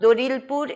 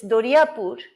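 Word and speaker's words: Doriapur: and then i reached it's not dorilpoor it's doria poor and then they say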